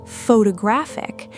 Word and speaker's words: photographic: Now add -ic instead, forming photographic, and the stress jumps yet again, landing on the third syllable, pho-to-graphic.